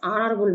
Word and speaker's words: honorable: He is dash honorable man. Yan, the, no article. Yan. Answer yan. The word honorable starts with a silent H and gives a vowel sound.